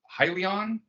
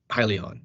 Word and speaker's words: Hyliion: into a partnership with hylion and I guess I think that's the way it's pronounced yep to join forces and